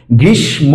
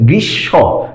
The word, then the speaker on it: গ্রীষ্ম: স যে ধ্বনিটা, সেটার এই ধ্বনিটার উচ্চারণটা দ্বিত্ব হয়ে যাবে, অর্থাৎ এটা ডাবল হয়ে যাবে। গ্রীষ্ম না হয়ে যাবে গ্রীষ্ম।